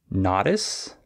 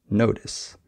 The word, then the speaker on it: notice: or maybe you say notis uh but the correct pronunciation is notice you just need to change the a to an O notice right uh so those